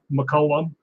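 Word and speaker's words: McCallum: to find me and it's spelled uh not like it's sound my name is mccollum because it's named after saint columba so it's pronounced mccullum but it's actually like m-c-c-a-l-u-m matter of fact if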